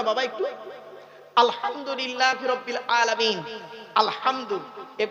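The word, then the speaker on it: الحمد: একটু আলহামদুলিল্লাহি রাব্বিল আলামিন আলহামদু এই গলার ভেতর থেকে হেটা উচ্চারণ করবেন আলহামদু আলহামদু মানে হচ্ছে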